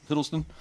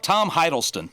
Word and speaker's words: Hiddleston: Hiddleston? I don't know. Not sure how to say this, but guy in the chair. Yeah. Who played Loki? It's Tom Hiddleston.